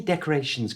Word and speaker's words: decorations: start putting up decorations to say decorations correctly change the a to the little schah sound that's how little uh